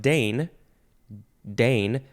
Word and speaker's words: deign: it's uh it's pronounced Dane Dane but it is spelled D e i g n it's like the word rain r-e-i-g-n um uh which which